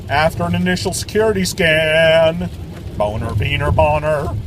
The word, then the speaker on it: Boehner: Not Boehner, it's Boner. In school, they taught you about A-E-I-O-U. And If you want your noun pronounced Boehner, then spell it that way. B-A-Y-N-O-R, Boehner. Not boner. B-O-E-H-N-E-R. Boner, boner, boner.